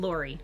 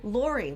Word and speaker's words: Luery: Leury. Leury, like Lori. Yes, but spelled poorly.